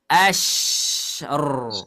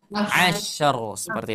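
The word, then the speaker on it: عشر: Kalau huruf shin yang ada titiknya dia harus melebar. Asyr. Nah, terakhir. Di sini ada ro sukun. Kita kemarin sudah bahas ro sukun. Kalau sebelumnya sukun, sebelumnya fathah, bacanya tebal atau tipis? Tebal. Jadi gimana bacanya? Mumtaz. Ya, jadi dibaca asyr seperti itu ya.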